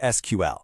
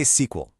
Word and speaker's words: SQL: You can say SQL just like a movie SQL or you can say the letters SQL. Honestly, both are perfectly correct, so you really can't go wrong.